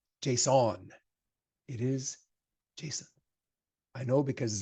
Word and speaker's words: JSON: it's Jason he goes it's Jason it's like the name it's not Json it's not French okay although it sounds